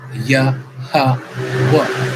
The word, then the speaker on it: Yahweh: Pronunciation of these letters gives Yahweh, Yahweh, right?